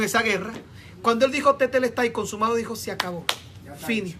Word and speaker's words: tetelestai: Cuando Jesús muere en la cruz, él usa una palabra bien importante que es una palabra griega que se pronuncia mucho, que es tetelestai.